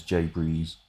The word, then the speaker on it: J Breeze: oh God also J you can just pronounce my username as J Breeze which is easy for